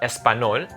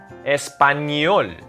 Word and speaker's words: español: It's not español, español.